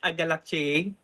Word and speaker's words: agalactiae: Streptococcus agalactiae. Alright, tatama pa ang pronunciation.